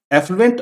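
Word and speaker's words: affluent: बस ए और ई का फर्क है, एफ्लुएंट और इफ्लुएंट।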